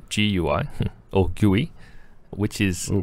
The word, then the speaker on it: GUI: us an email where they wrote gui as in g-o-o-e-y that's right which i